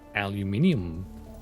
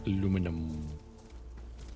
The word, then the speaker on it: aluminium: difference as well but to me it's aluminium not aluminum their own as they